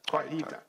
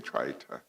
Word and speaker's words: Kwaita: Twaita, not Twaita. Kwaita. Yeah. Kwaita. Yeah, no, I think I've been saying Twaita, and I'm embarrassed that